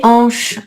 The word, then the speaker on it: hanches: Donc ce petit crustacé hein, les huîtres, les hanches à chaspirer, pas de liaison.